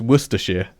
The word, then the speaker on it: Worcestershire: It's like Leicester and Worcester and Bicester. It's Worcestershire. Worcester. Worcester. Worcester. Or whatever. Worcester. You realise that we've just taken the piss out of the Worcestershire.